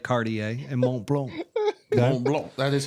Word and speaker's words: Montblanc: So he oversees iconic brands like Cartier and Montblanc. Mont Blanc. That is how you say It's that.